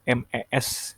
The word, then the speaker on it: mes: Nah, itu yang di bawah tuh, yang MES itu tuh, yang di kotak. Bacanya me. Me parents, artinya orang tua saya. Nah, untuk menunjukkan kepunyaan, le itu diganti menjadi me. Oke. MES, tapi bacanya me.